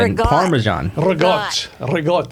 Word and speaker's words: ricotta: Google says ricotta or some Some crazy. It's pronounced regot.